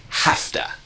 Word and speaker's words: have to: half the and let's keep training that Nice pronunciation of hafta all right let's go foreign I have to